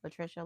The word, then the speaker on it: Latricia: Latricia, not Latricia. Latricia like Patricia.